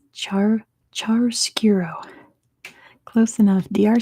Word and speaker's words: chiaroscuro: It's chiaroscuro. Close enough. DR spelled it right. That might be how you say it in Romania, but it's chiaroscuro.